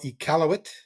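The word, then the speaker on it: Iqaluit: and really enjoyed it City how do you pronounce the city again uh the city is called ealt that's uh inuk for place of many fish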